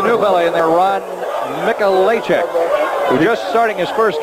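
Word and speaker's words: Mikolajczyk: It is Michalacek. The spelling, though, is M-I-K-O-L-A-J-C-Z-Y-K. Spell it 17-7.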